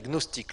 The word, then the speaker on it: gnostiques: C'était ce qu'on appelle les gnostiques, le numéro 1, les gnostiques. Gnostiques, ça s'écrit G-N-O-S, les gnostiques, numéro 1, G-N-O-S-T-I-Q-U-E-S, gnostique. La fin c'est comme moustique, mais là c'est gnostique, c'est pas moustique.